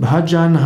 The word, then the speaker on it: Bhajan: Das Sanskrit-Wort Bhajana wird in den meisten nordindischen Sprachen und in den meisten Regionen Indiens Bhajan ausgesprochen, zum Beispiel auch im Hindi.